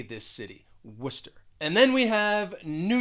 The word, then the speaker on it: Worcester: don't match at all worcester it's almost like you're you're getting rid of the rce those letters in the middle of the word two syllables you just say worcester even in the u.s